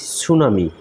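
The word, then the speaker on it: tsunami: পেট খারাপ তারপর আসি সুনামি সুনামি সুনামি বানানটা হচ্ছে টি এস ইউ এন এম আই সুনামি লিখে পিছনে একটা টি দিয়ে দিলেই আমরা সুনামি বানান হয়ে যায় সুনামি অর্থ অর্থ হচ্ছে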